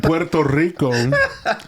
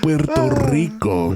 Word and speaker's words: Puerto Rico: You say it like an American. So, my mom being from Puerto Rico, I rolled my R's extra and I went Puerto Rico.